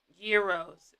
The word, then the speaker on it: gyro: they uh use which is really good um hero is how it's pronounced I'm great yeah so but you're saying